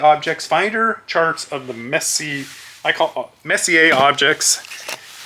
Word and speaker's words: Messier: Charts of the Messier Objects, I believe is how you would say that, like a French pronunciation.